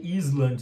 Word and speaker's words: island: Quando tem esse S aí, Island. Você não vai ler Island, você vai ler assim, ó. Island.